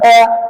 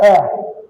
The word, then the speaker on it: heir: So, because they are silent, it is the next vowel sound that will be pronounced.